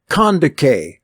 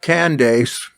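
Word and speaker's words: Kandake: course matthew 12 42 luke 11 31 with kondike queen of the ethiopians that's how you pronounce it not candace condecay pronounced like k-a-n-d-a-k e with an accent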